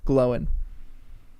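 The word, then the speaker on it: Glóin: Yes, I love how you guys, okay, so that is the correct pronunciation. Glowin.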